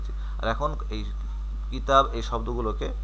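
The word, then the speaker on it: كتابي: উচ্চারণটা এরকম হবে। কিতাবি অর্থাৎ কিতাবুন এখানে দুই পেশ ছিল।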